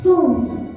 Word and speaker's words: солнце: Все материки согреваются солнцем. Солнце – основной источник энергии. А какая программа в слове «солнце»? В слове «солнце» непроизносимое согласное «л».